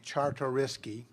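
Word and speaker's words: Czartoryski: here to correct me Charter risky the Z is silent but I think all the other letters apply uh we'll be attending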